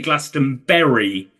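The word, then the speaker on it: Glastonbury: you watch it again he does say Glaston Berry which I think is normally the American pronunciation but I think that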